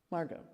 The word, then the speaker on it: Margot: Margot, just Margot, okay.